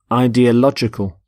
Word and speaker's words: ideological: Ideological. The stress is on lodge in the middle.